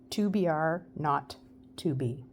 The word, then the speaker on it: 2BR02B: were supposed to call the zero in the telephone number he pronounced not the number was tobr not to be it was the telephone